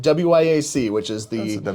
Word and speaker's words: WIAC: How do we pronounce the name of your conference? You've been very good about saying WIAC, which is That's the WIC.